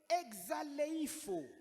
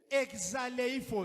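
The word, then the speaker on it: ἐξαλείφω: le terme effacé du grec, Kujimisha mukigrek c'est exaleifo, exaleifo, ndio vile mina ce prononcea.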